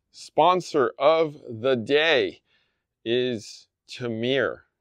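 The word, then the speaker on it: Tihomir: All right, so Holiday Spice Blend, sponsor of the day, is Tamir. I think it's how it's actually pronounced. T-I-H-O-M-I-R. So my guess is that's Tamir, T-O-M-I-R.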